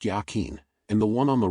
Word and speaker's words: Yachin: The one on the left and to the north he named Yachin, pronounced Yachin, and the one on the right and to the south he named Boaz.